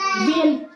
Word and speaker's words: viên: Nhưng mà n ở sau cùng thì chúng ta không cần khép môi, đúng không? thì chúng ta sẽ phải đọc là viên.